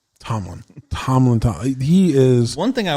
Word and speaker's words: Tomlin: I always want to say his name's Coughlin for some reason, even though I know it's not. Tomlin.